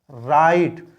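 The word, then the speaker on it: write: students क्या बोलते हैं राइट स्टूडेंट्स इसके अंदर डब्लू साइलेंट रहता है इसका भी एक एक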